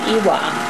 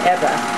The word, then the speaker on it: Ewa: Eva, it's Eva. He always called it Ewa, but they pronounce it Eva.